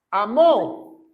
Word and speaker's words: amó: dice de tal manera Dios amó con acento en la o en inglés dice lo